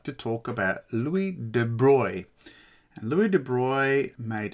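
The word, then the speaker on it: Louis de Broglie: before I go on you might read this as Louie de brogley uh that's not how you pronounce it it's Louie de Bry so what did Louie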